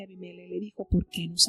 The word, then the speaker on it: Abimelech: Y se pronuncia Abimelech, el rey de ese lugar, y le dice que el que tocare a este hombre o a esta mujer morirá.